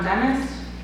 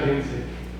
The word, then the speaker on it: Kinsey: I apologize if I say this last name wrong, but I believe it's John Dennis, or John Dennis. It's John Kinsey.